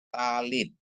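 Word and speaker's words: טלית: Lea ya Lea terus ada tap dikasih kamats bacanya ta lamet dikasih hirik Yot bacanya Li ditambah dengan Tab menjadi bacanya nya adalah talit ya artinya selendang doa orang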